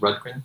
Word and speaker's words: Rundgren: Rundgren, is that right?